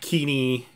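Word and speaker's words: Kenney: uh and then there's keaney k-e-n-n-e-y i do not know how to pronounce it everybody wants to say kenny but it's not kenny uh asset jesus and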